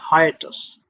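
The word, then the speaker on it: hiatus: हाइटस, इसका pronunciation होगा हाइटस।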